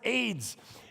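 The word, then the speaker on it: Ades: The name is pronounced AIDS.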